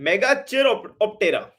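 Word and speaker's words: Megachiroptera: मेगा चाइरोपेट्रा, पता नहीं क्या इसकी प्रोनाउंसिएशन है, मेगा चाइरो नहीं, मेगा चिरोप्टेरा, मेगा चिरोप्टेरा, मेगा चिरोप्टेरा और माइक्रो चिरोप्टेरा, दो कैटेगरी होती है।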